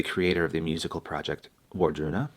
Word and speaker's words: Wardruna: Einar Selvik, he's the creator of the musical project Wardruna, or Valaruna to pronounce it accurately.